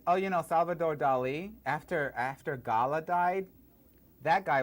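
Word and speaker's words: Dalí: Dali, of course, my name rhymes with Tali, Dali.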